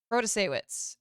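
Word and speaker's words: Protasiewicz: Protasewicz is how you say it.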